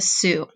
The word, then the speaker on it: Sioux: tribes these tribes are the assiniboine and the sioux we are going to practice how to pronounce their names because you might not think